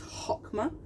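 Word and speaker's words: Chokhmah: tree of life is hokma hokma we don't pronounce the CH it is hokma and stands for wisdom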